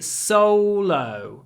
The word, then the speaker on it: solo: and logo is that the O is slightly different because before an L we put our lips forward and say solo Solo solo but logo before a